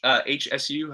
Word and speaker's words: Hsu: So anyway, there's a guy, Steve HSU, however you pronounce his last name. I think it's Shu, that has some interesting ideas about genius, where it gets a little bit into the genes.